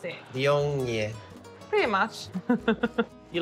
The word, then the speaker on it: Viognier: Viognier. Do you know how to pronounce it? Viognier.